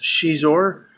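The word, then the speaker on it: Xizor: is uh mister the Hutt talking to Prince she's or and yes that is how it's pronounced and the novel does mention that that's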